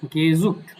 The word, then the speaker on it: gesucht: গেজুক্ট, এটা উচ্চারণ কি হবে, গেজুক্ট।